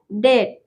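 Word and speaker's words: debt: हम बी को नहीं पढ़ेंगे, वहां पे बी साइलेंट रहेगा। ठीक है, एग्जाम्पल देखते हैं। पहला एग्जाम्पल है डेट।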